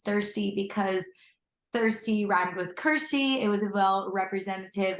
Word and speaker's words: Kirstie: in the realm because it rhymes with my name Kirsty like thirsty so yeah you know